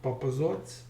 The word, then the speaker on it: Papazovac: city in Serbia called Papazovac. So this C is pronounced as TS in Serbian.